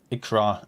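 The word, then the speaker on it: икра: when it says ikpah because it is a Russian and that's got to be seen as in R are going to be read as an R ikra it is pronounced and means clavia so yeah that's just uh just imagine it as the Russian pronunciation Clan actually all right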